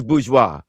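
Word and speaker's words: bourgeois: It's bgeoa.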